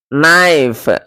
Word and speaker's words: knife: But after the vowel shift, the K became silent and E turned to the diphthong I. Hence, it is pronounced as knife.